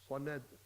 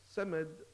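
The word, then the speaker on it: صمد: Samad with the Sin means feces. Means poo for the younger boys and girls. So now you're saying Allahu and you're not pronouncing the Sad.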